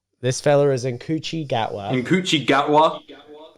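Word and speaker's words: Ncuti Gatwa: Nkuchi Gatwa. Thank you. That's apparently how you pronounce it.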